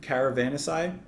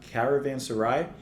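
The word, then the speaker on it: Caravanserai: this I really really love the atmosphere of Caravan asai I say it wrong every time Caravan Sarai and I think that singing winds kind of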